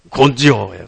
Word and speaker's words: 곤조: 곤조예요, 곤조. 이 곤조가 뭐예요? 근성이라는 한자어의 일본어 발음이 곤조예요.